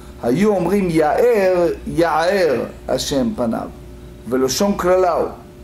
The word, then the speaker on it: יאר: And if he said Ya'er instead of Ya'er, meaning he's not using the garon, the throat, in his pronunciation, he may misconstrue, he may misinterpret it as a curse instead of blessing.